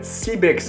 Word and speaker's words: Seabex: Sans plus tarder, il y a CBEX, hein, ça se prononce comme ça, la startup.